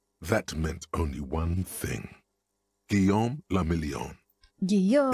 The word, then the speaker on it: Guillaume le Million: Guillaume le Million. Guillaume. If it doesn't rhyme, you're not pronouncing it right.